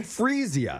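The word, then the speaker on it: Freesia: is that how you pronounce it, though? Yeah, Frisia.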